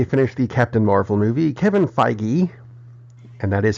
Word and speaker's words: Kevin Feige: news after they finished the Captain Marvel movie Kevin Feige and that is how it's pronounced I called Marvel and asked hey they're